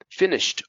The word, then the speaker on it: finished: Now these ones have a T sound. Finished, watched, attached, checked, helped.